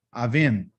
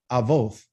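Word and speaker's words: אבות: say father off right so if i wanted to make it plural i automatically think it's a masculine so i would put an eem on there avin but not not according to hebrew it's called oath avoth those are means fathers that's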